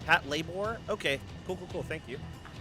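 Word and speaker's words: Patlabor: You see no PSM but I can say hello to Josh says it's pronounced Pat labore. Pat labore.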